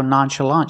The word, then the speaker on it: nonchalant: you remember the pronunciation the CH makes a soft sound it comes from French today we're looking at